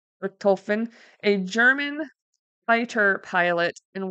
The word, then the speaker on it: Richthofen: Richthofen, a German fighter pilot and World War I hero.